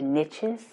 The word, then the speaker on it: niche: See, when you go where there is a gap, people often say there are riches in the niches. It's actually niche, but it rhymes.